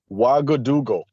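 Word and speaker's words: Ouagadougou: Okay, here's the pronunciation. Wagadoo.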